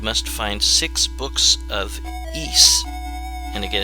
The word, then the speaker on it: Ys: one ancient east vanished it looks like it should say wise but i guess it's pronounced ease this was created by